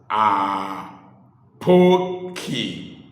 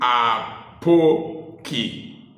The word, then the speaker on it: Apoki: evening Wherever You Are the reason I pronounce my name are Pokey is deliberate is because people usually spell my name wrongly and pronounce it wrongly hence the emphasis and